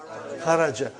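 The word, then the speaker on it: خرج: Say it properly. Kharaj. With sukun. You won't say with, you will say kharaj.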